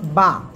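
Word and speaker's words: باء: এরপরে আমরা যে অক্ষরটা শিখবো সে অক্ষরটা হলো বা।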